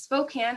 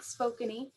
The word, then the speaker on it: Spokane: from spokane washington and yes it is spokane and not spokeny thank you bethany as